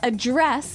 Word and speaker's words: address: pronounce it differently so the verb address has the the stress on the second syllable okay address yes and